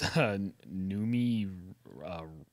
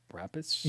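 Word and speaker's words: Noomi Rapace: I can't pronounce her last name. Yeah, there you go. It's Numi. Okay. Rapis.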